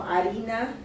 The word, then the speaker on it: harina: Harina, you would say it, but you know, they would have probably a hard time knowing that it has an H on it. So if you allow them to spell it out and then correct them if they don't put the H, then they're able to say, oh, even though I don't hear the in harina, then they're still able